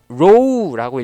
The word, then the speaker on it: rho: 그리고 이 상관계수는 보통 우리가 그리스 문자에서 이렇게 구가 거꾸로 되어 있는 듯한 요 문자를 쓰는데, 요거는 row라고 읽어요. 영어로는 RHO 이렇게 쓰는데, 이제 요 row라는 문자를